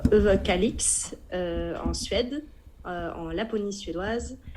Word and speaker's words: Överkalix: En fait le O se prononce, le O avec 2 ronds se prononce E et le R se prononce pas beaucoup, donc c'est Överkalix.